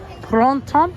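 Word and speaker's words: Printemps: Pronto. It's French. It's actually prints. P R I N T E M P S. Print temp. Prints. One word. Prints. But in French, it's pronounced pronto.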